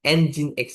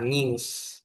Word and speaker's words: Nginx: Nginx ya, bukan Nginx. Orang-orang kan ada yang ngomong Nginx gitu. Ya, itu kurang lebihnya kan salah sih, tapi ya lucu aja gitu.